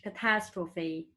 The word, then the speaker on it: catastrophe: you say that uh the highlight of the pronunciation is not the same rather in french is catastrophe and in english catastrophe baobabs baobabs in french is baobab and baobab